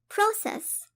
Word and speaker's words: process: process. process كnoun تعني عملية ونهج أو سير العملية. process. وإن كانت فعل فهي تلفظ process.